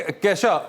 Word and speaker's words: Kesha: केशा। केशा, आई am sorry, हमने शुरू में कीशा कर दिया, केशा।